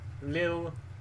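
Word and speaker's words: Lille: are going to uh liil is it pronounced liil we are traveling to liil Lil yeah in France in France in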